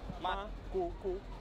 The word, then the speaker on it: Makoko: How do you pronounce it? Makoko.